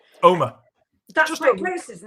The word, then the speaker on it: Omagh: Omagh, it's pronounced. Omagh.